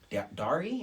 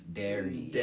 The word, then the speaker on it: Dari: my name and stuff they like always like dary and i'm like oh no it's dairy i guess it's because